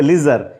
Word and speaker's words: leisure: आगे देखिए, लीजर, इस स्पेलिंग को ध्यान से देखिएगा, LEISURE है, लेजर। अब ये लेसर का कह रहा है ना, वहीं लीजर या लेसर को कोई बोलता है, तो लीजर है एक्चुअल